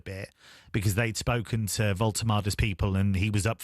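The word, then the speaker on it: Woltemade: Is it Voltemade? Voltemade. What can you tell us about him other than how to pronounce his surname correctly?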